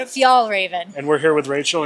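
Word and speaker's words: Fjällräven: Fjallraven.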